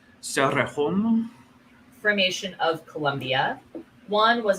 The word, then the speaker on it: Cerrejón: I mean, I believe it's Cerrejón. With a rolled R, so Cerrejón.